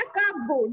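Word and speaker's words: cupboard: फिर है फोर्थ वाला कपबोर्ड, जब हम कपबोर्ड कहते हैं तो ए जो है वो साइलेंट रहता है, तो ए को आप क्या करोगे?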